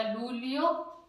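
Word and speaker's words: luglio: ये एक वोवल्स है ई के, ये आ गया तो इसका उच्चारण ले बन जाएगा, लूलियो, फामिलिया, आलियो।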